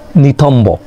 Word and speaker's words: নিতম্ব: নিতম্ব, বর উচ্চারণ হয়েছে।